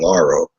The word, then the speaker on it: Lar: listening to you and Laro um I hope I'm pronouncing that right Laro am I it's lar okay lar Like Larry because me me and